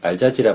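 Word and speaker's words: الجزيرة: 그래서 극단주의적인 반응이 일어나서 이집트 알자지라 방송에서 이 발음을 잘해야 됩니다.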